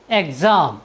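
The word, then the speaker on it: exam: समय पर मिलती रहे एक एक्स के उच्चारण का नियम है यदि किसी वर्ड के शुरू में ् हो और उसके बाद ए ई आई ओ या एच हो तो हम इ एक्स का उच्चारण एस करते हैं जैसे ई एक्स ए एम एग्जाम एम मीस होता है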